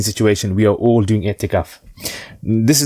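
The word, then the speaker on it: اعتكاف: Is that how you spell it? I'tikaf. Alright, in Arabic, it's i'tikaf.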